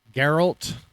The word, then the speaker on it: Geralt: So, we've got Geralt.